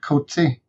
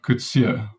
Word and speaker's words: Coetzee: i'm ready kevin thanks okay so could see her badly mispronounced as kotzie by most of us yeah that's pretty speculative